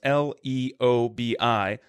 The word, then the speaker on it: Leobi: And our name, if you don't know, is Liobi. So it's Leobi. Leobi is spelled Liebi.